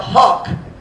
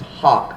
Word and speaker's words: hough: their chariots with fire i believe that word h-o-u-g-h is pronounced hawk me and mom ruth discussed it i think it's pronounced hawk i found disagreements online but i think it's h-o-k hawk h-a-k something like that we'll talk about in